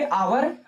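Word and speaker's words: hour: तो इसको पढ़ेंगे आवर।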